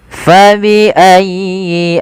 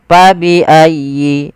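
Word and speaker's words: فَبِأَيِّ: fa ingat huruf fa ini tidak boleh diganti dengan p misalkani fabiayi ala. Ini kesalahan yang sering terjadi di antara kita ya, terutama orang Indonesia itu mengganti huruf fa dengan huruf p ya faayi harusnya fa.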